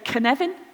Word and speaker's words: Cynefin: So do you know the name Kevin, like Kevin Costner? Say Kevin. Kevin. Say Kevin. Right? Put an in it. Say Cynefin.